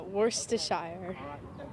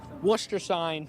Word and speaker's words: Worcestershire: It tantalizes the taste buds, but pronouncing its saucy name twists the tongue. Worcestershire? Yeah, Worcestershire. Worcestershire.